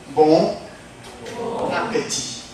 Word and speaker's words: bon appétit: Yeah, so when we learn French, you have to get used to connect consonant with the vowels. Bon appétit.